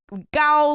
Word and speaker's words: Gao: And it's Gao, like tall, that meaning of that word.